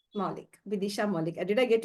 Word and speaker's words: Moulik: And she is Miss Bidisha Maulik. Moulik. Bidisha Moulik. Did I get your name right? Did I Yeah, mispronounce? yeah. No, nothing. Bidisha Moulik.